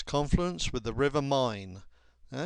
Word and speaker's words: Main: Confluence with the river mine now it's actually spelled m a i n but it's pronounced mine Mance is the capital